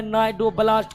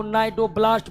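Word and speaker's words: cnidoblast: कोशिका जिसको अंग्रेजी में नाइड ब्लास्ट कहते हैं सी साइलेंट हो जाता है इसको नाइड ब्लास्ट पलते हैं नाइड ब्लास्ट नाइट्रो ब्लास्ट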